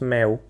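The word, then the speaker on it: mèo: En vietnamien, le mot chat se prononce meo.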